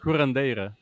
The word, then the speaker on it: curandera: people, and she actually, they call him a curandera, I think it is. I'm not very good at Yeah, pronunciations, but curandeira.